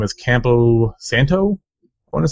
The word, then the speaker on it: Campo Santo: The developer's name is Campo Santo, I want to say. I don't know if that's how you pronounce it, but Campo Santo. Campo Santo.